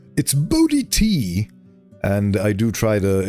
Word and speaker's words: Bo Di T: in case you weren't here for that, it's Bodhi T if you want to know how to pronounce that.